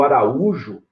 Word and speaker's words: Araújo: E o Araújo, a gente acentua por causa da regra do hiato.